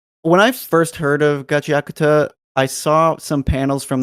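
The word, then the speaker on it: Gachiakuta: evening here, and I already forgot how to pronounce it appropriately. So Gachi Akuta. There you go, Gachi Akuta.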